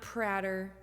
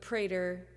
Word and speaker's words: Prater: By the way, I'm Prater, rhymes with later, not Prater, like pancake batter, but Prater rhymes with waiter, rhymes with alligator, rhymes with elevator.